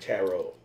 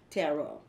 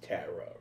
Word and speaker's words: tarot: it's so you said tarot tarot so a lot of people pronounce it incorrectly because everybody says tara readings exactly yeah maybe it's